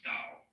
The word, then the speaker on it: Dao: it's called Daoism this character in Chinese is pronounced da Tao you would think it was pronounced t